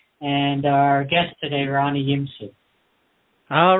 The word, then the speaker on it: Yimsut: Our Guest today now Tim how do you pronounce Ronnie's last name properly Ronnie is yimu Ronnie yimu is an author author of facing